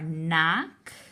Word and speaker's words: knock: The other words in this category are knock. Careful with this. That KN says N. Just like an N by itself, the K is silent.